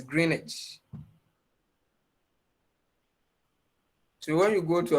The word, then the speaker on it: Greenwich: where i come from the typical english people will not pronounce the w it's greenwich so when you go